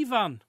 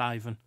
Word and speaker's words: Ivan: if you prefer um it's only because I have a friend called Evan that I pronounce it that way I'm sure it's supposed to be pronounced Ivan like Ivan the Terrible oh that's not the